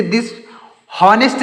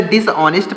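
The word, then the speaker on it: dishonest: डिस ऑनेस्ट डिस ऑनेस्ट इसे दिस नेस्ट नहीं यहां पर यच है ना तो इसे हा नहीं पढ़ेंगे ऑ पढ़ेंगे यहां पर एच साइलेंट है तो हम इसे डिस ऑनेस्ट पढ़ेंगे डिस ऑनेस्ट का मतलब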